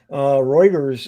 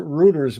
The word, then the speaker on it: Reuters: And I've seen people mention Reuters, and they pronounce it Reuters, but it is Reuters.